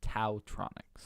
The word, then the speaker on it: TaoTronics: T yeah and be taotronics but isn't Taoism spelled ta o is M yes but in this case nothing those headphones are support Taoism related yeah I'd say the T myself its ta o Tronics